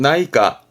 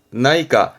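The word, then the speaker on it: 内科: 발음은 나이까, 나이까.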